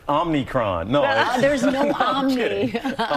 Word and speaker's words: omicron: It's omicron.